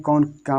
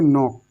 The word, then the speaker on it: knock: इसको KNOCK, अब इसको के नॉक नहीं पढ़ेंगे, इसको पढ़ेंगे नॉक, नॉक, नॉक, क्या पढ़ेंगे, नॉक, इसको नो, इसको नॉक, नॉक, नॉक।